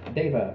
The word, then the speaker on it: Deva: I think day. The word like not night. Day. Deva.